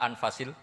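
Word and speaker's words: أنفس: kalau sekarang di sini ditulis anfusiul kutub selalu saya baca anfasil karena maknanya kitab terbaik kalau kitab terbaik bacanya bukan anfus tapi apa ya nanti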